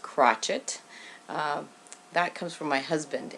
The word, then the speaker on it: crocheter: yes it's called crocheter it's spelt the same way but pronounced crotchet that comes from my